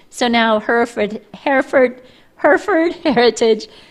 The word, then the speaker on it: Hereford: now her for hereford herford heritage why do i want to put another e in there because it's written that way phonetically it seems like it should be hereford but it is not hereford that's what it is